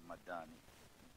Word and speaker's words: madani: for Malaysia Malaysia madani you have to pronounce it madani don't put Double D there that would carry different meaning as Ambitions lays out